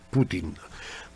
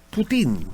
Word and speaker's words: Putin: que está brad y me puteen putin prefiere ponerle el acento en la y bueno pues les decía